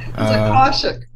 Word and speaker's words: Akashic: I'm sure you know how to pronounce it. Yeah. Akashic.